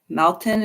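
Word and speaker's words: Maltin: Um Leonard um Mal Maltton I think is how you say his last name.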